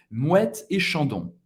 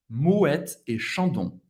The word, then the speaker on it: Moët et Chandon: E essa marca é Moët et Chandon. Moët et Chandon. Moët et Chandon. A-N tem o som do AN. O-N tem o som do ON.